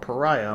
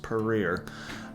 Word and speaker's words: Paria: town called peru i thought it was called pariah but apparently it's pronounced peru and yeah it's like an old little ghost